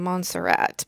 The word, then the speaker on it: Montserrat: pronounce this name because I've been saying Montserrat but I don't know if that is correct it said in English I was for once for once pronounced something correctly on my own this